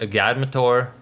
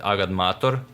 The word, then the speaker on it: agadmator: no he doesn't i i think he pronounces it like a guy mature i think something like that when it's in fact agad mator without any any weird stuff going on it's just me